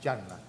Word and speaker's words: Hanna: Porque aunque se escribe Hanna, es Yanna, ¿verdad?